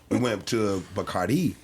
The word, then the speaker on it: Bacardi: and we went to Bacardi. Yeah, that's how they say it.